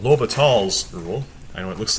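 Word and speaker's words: L'Hôpital: except in either event you don't pronounce the s in this French mathematicians name so low but all's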